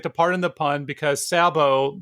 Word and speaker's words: sabot: pardon the pun because sabo the tea is silent in French it's the wooden shoe